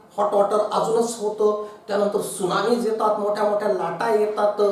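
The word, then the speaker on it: tsunami: बघा spelling T पासून सुरू होतं का, टी सायलेंट राहतो आणि सुनामी.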